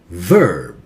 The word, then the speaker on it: verb: touch the upper teeth and bite gently and say V, V, V, V, V. Verb. Do not touch your lips together.